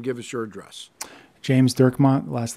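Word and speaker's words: Dirkmaat: last name and give us your address James durmont last last name is spelled D i r k m a a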